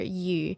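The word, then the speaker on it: 餘: The written character yu that is used in this greeting is the character meaning surplus or more than, and its pronunciation is the same as the character for fish, yu.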